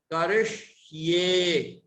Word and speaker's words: करिष्ये: जब हम जीभ को पीछे की ओर मोड़कर बोलेंगे तो श, श, ये उच्चारण शुद्ध हो सकेगा। करिष्ये, करिष्ये।